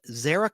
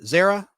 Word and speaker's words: Zara: Mother Jefferson was named zarak Cully I like that name Zara Zara you say Zara I say Zara Zara Cully her last